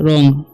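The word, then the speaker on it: wrong: भी बोलते हैं ठीक और रंग इसे पढ़ेंगे रंग ठीक यहां पर डब्लू जो है साइलेंट हो जाता है इसे पढ़ेंगे हम रंग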